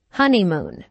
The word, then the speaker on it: honeymoon: the stress on honeymoon there are three syllables in honeymoon with a stress on the first syllable honeymoon this content word is